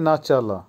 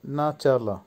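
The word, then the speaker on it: начало: নাচালা, নাচালার অর্থ হবে শুরু বা স্টার্ট বা বিগিনিং, উচ্চারণ হবে নাচালা। আবারও বলছি নাচালা।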